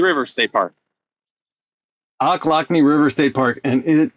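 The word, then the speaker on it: Ochlockonee: um state park i just forgot how to pronounce it frank help me here it's oclockney river state park oklakne river state park and it is really really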